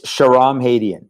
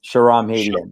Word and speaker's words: Shahram Hadian: Give me the pronunciation of your first name with apologies. No, Go for it. no problem. It's Shahram Hadian. Shahram Hadian. Shahram Hadian.